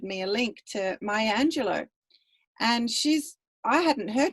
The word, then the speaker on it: Angelou: an african-american woman um the name is spelled m-a-y-a angelo um same as it's like angelo but oh you on the end i think she is